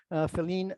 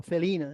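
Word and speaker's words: Felienne: More recently, a researcher from Leiden University, Feline Hermans, or Feline, I think it's pronounced, he has come with this idea of the gradual languages.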